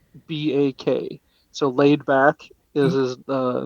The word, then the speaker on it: Laydbak: His name it's spelled Laydbak. So Laid Back is his name.